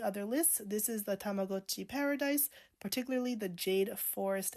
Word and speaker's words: Tamagotchi: I know that in the 90s, the pronunciation was Tamagotchi. That was the common thing to say, because it does look like gotcha, I get it.